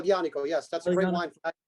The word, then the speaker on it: Aglianico: nobody shows like love like uglianico pronounce it uh yanico yes that's a great